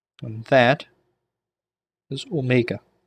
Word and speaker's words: omega: And Omega has a long O sound, so Omega.